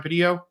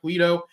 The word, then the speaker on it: Pulido: Is Brian Padillo? Is that how you pronounce his name? Brian Pulido, yeah. Pulido. I said the last name wrong.